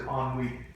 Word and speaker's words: ennui: Oh, the French word is ennui.